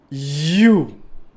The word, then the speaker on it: Hu: l'univers des multivers you s'écrit H u mais se prononce you nous capable chanter l